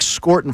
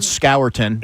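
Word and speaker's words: Scourton: Eagles really really like by the way is pronounced Scorton. I know that it's called Scowton but it is Scarton.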